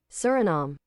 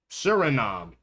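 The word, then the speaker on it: Suriname: Pronunciation. Surinom. Surinom.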